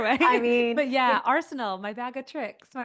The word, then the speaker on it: Arsenault: And there's like two ways to pronounce my last name. It can be Arsenal or Arseno.